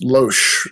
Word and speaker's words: Loesch: And then Margaret, how do you pronounce this? Loesch? Margaret. Yes, Loesch, head of Fox Kids.